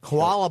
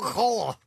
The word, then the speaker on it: koala: nose Yeah, big beady red eyes koalas by The way is a most mispronounced word to fuck an English language Really How was it pronounced Koala Did not know that.